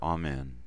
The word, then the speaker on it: Amen: It's composed of the letters Aleph, Mem, Nun, and has two syllables. Therefore, it is spoken exactly the same as the opening Ani, with each syllable receiving equal breath. Thus, Amen.